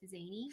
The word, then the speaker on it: Szany: last name is SZANY, we just don't say the S. Yeah, the S is silent. People always say like Zany. I'm like, it's just Zany.